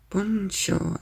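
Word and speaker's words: 文章: 文章、 Bunsho is still the same kanji.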